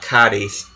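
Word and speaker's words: Cádiz: And yes, Melia is indeed at Cadiz, because the Z is pronounced like a TH in that particular region of Spain.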